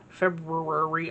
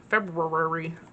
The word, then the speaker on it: February: February. I always have trouble saying that. February. But there's an R in there, so I don't know.